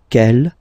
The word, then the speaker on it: quel: And the good news is that you will pronounce them the same way. All right, so quel, quel, quel, and quel.